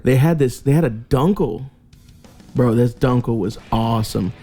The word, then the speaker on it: Dunkel: Yeah, that's how it's pronounced, Dunkel.